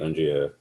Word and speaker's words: Undria: Like it's pretty much going in the same way that Undria, did I pronounce it right, by the way? Undria?